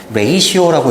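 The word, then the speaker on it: ratio: 선생님 이제 끝나면은 다시 이제 경천으로 경천 자 어려운 단어는 레이시오라고 읽고 레이시오 이런 비율이에요.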